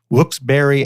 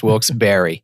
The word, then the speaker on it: Wilkes-Barré: had a campaign called Wilkes-Barré as in strawberry. Not a very sophisticated campaign, but gets the point across. Yeah. So that's the story of pronunciation. Great. So it's Wilkes-Barré.